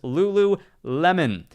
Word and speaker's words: Lululemon: on me on Saturday for mispronouncing this Lulu Lemon Lululemon I believe I said melon there accidentally uh Thursday tomorrow